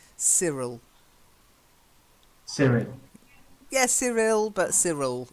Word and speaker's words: Cyril: silent E then Cyril I know it's why but we say see Cyril Cyril yes Cyril but